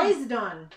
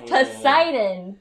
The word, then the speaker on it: Poseidon: So can as you pronounce we know, that name? Medusa. No, this name. Hercules. No. Poseidon. No, it's Poseidon.